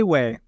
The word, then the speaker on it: Shue: But they did decide to pick goalkeeper Ryan Shue, I think is how you say it. Sheway? Is it Sheway? Sheway, yeah.